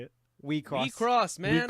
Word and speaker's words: WIXOSS: We cross. We cross, man. WIXOSS.